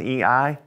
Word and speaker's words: y: We don't say Y because that's really just the name of the letter, right? We just say E. It sounds like the letter I almost.